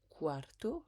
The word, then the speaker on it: quarto: n'oublie pas de dire quarto le U se prononce en ou et puis quar donc